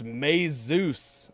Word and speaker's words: Mises: Tell her it's May Zeus.